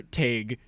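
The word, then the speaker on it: Tadhg: By Twitter user Tag. It's spelled Tadghh, but rhymes with vague apparently.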